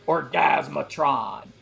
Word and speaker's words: Orgasmatron: love an album called orgasmatron you have to pronounce it like that orgasmatron so awesome man